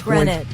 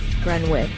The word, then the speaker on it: Greenwich: I know it's Greenwich.